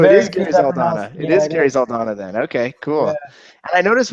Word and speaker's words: Zaldana: it right but a lot of people don't pronounce it right okay so it'll Donna it is Gary Saldana then okay cool I noticed when we first